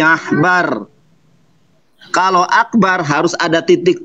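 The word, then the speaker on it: עכבר: Itu bacaannya bukan akbar tetapi ahbar.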